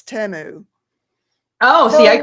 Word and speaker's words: Temu: say it temu yeah I used to say Teemu but when I saw the commercials for it it's temu oh see I called it teu yeah I did to temu teu what is it